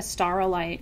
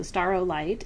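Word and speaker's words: staurolite: all my travels I had never seen a star light ring have you fairy crosses and so star light it's spelled s s a u r o l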